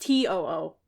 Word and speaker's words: TOO: boy group to spelled t o o it's pronounced to o o which is still not good yeah but I